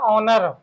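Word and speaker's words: honour: इसका एंटोनीम्स हो जाएगा ओनर ये हा है हा इसमें साइलेंट राहत है इसका करेक्ट प्रोनाउंस हो जाएगा ओनर ओनर मेंस होता है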